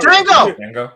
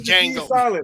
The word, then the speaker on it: Django: Is Django. Django. While we're in slavery, meanwhile we're in slavery time, and how the fuck does he know that the D is silent? Because the D is silent.